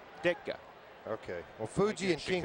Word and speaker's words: Ditka: Ditka.